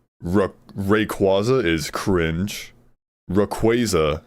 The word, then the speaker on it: Rayquaza: But I uh like I I've always said it Rayquaza because it sounds way cooler. Sounds like a quazar.